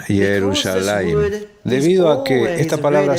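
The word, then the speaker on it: ירושלים: Porque deberías pronunciar esta palabra como si hubiera una yud adicional entre lamed y mem, y luego puedes los kamets o muchas veces el pataj. Esa también es una vocal ficticia, va junto con la pronunciación Yerushalayim.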